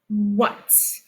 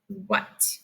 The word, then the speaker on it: what: What? It's tricky because the A is making a U sound. Doesn't follow the rules. One more time, the word is what?